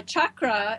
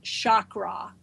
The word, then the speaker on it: chakra: there's the chrum a chakra it's self means wheel literally it's a Sanskrit word that means wheel and it is not pronounced Shakra there's no such word as Shakra in Sanskrit language or in the English